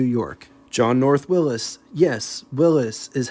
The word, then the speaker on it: Willys: Yes, Willys is how his name is pronounced.